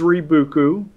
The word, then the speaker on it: Rebookü: that how do you say it it is reuku um it's it's a madeup word but it